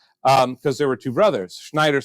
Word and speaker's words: Schneider: Well, but if you know the German way, German's always EI. So. And you have to say it Schneider. You have to say it like you're mad like at something.